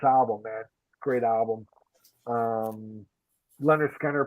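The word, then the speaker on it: Lynyrd Skynyrd: I love this album man great album um Leonard Skinner pronounced Leonard Skynyrd um you know Tuesday's Gone simple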